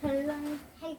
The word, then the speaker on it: 변론: 변론할 때? 변론이라고 해서 귀여워서. 처음 들어봐가지고 이 변론은 또 뭐길래 이렇게 나온 거예요? 니은과 리을이 만나면 리을을 그냥 발음해. 신라 시대 할 때도 신라 시대라고 하죠. 신라라고 하죠.